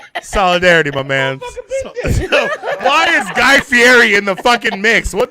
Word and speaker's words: Guy Fieri: Well, it's technically Guy Fieri's been on for the past 3 shows.